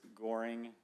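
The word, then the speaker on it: Goering: my name is gearing i live at five uh goring gearing doesn't matter um can you spell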